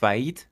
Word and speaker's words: faillite: faire faillite دو تا علاج بچه تلفظ نمیشه به معنی ورشکسته شدن.